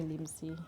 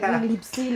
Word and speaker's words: Limsie: It's like like Lipsy. Like there's no P. It's just M. It's just Limsy. What's this take it easy?